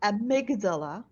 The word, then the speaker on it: amygdala: So I don't know if I'm going to pronounce it well. The amygdala.